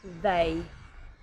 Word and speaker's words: they: that mistake is to replace the th with a D sound for example they you need to pronounce the th sound they also this is correctly